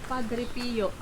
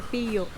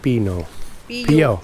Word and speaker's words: Padre Pio: How do you pronounce that, Mel? Saint Padre what? Saint Padre Pio. Padre Pio.